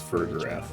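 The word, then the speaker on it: Farigiraf: It's supposed to be Giraffe Rig, but flipped backwards, so it's Frigraph.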